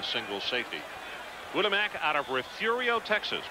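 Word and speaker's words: Refugio: safety woodamack out of refurio Texas probably one of the more mispronounced of Texas cities because of its failing r-e-f-u-g-i-o very high kid going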